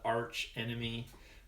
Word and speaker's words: Arc Enemy: uh we call the even though it's spelled Arc enemy we call it Arch Enemy um which is a